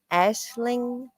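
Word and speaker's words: Aisling: And her name is is pronounced like Ashling.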